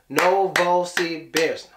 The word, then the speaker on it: Novosibirsk: that's three I'm in novosibirsk how many syllables are know is the best no ball see bears yeah four syllables okay or we can